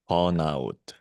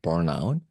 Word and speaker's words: burnout: it for me no I'm not going to spell that because it's Korean but we call it B out Bon out yeah B out I mean I